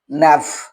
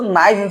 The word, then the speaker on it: naive: तो यहाँ पर एक चीज देखो, यहाँ पर एक वर्ड आया है नैफ। इसको नाइफ भी पढ़ा जाता है, अलग अलग जो इसका जो प्रोनाउंसिएशन को लेकर थोड़ा बहुत जो है, कहीं नाइफ पढ़ाता है, कहीं नैब।